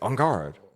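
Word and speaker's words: en garde: aspects I have to code switch into a fake French accent to say on guard and and with an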